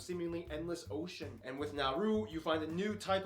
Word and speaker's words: Nauru: Yes, it's pronounced Nauru, not Nauru.